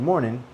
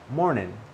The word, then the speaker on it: morning: Then I also said good morning 2 times because you can say it in 2 different ways as well. All right. Good morning. Morning. Nin. Nin. Nin. Good morning. Or ning. Good morning.